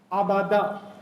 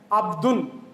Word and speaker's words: عبد: Abada. Or we can pronounce this as Abdun.